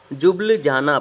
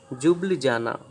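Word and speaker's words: Ljubljana: जुबल जाना बोलेंगे, ठीक है, एल साइलेंट रहेगा इसका। हिंदी में प्रोनाउंसिएशन क्या रहेगा, जुबल जाना।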